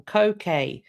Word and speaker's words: Koh Ker: be sat in front of a place called Koh Ker. And it is in Cambodia. And thank you as well, Jin, for sending me the pronunciation. Very, very helpful. Koh Ker, spelt k o h space k e r.